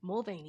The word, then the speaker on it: Mulvaney: Mulvaney, yes.